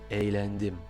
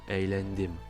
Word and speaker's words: eğlendim: On le voit dans l'exemple suivant, çok eğlendim, çok eğlendim. On entend ce léger Y à la place du G avec l'accent circonflexe à l'envers.